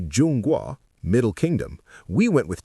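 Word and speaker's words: 中国: They say Jun Gua, Middle Kingdom.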